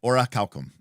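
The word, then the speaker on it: orichalcum: oracal yeah so oral orac calcum is how it pronounce but um yeah so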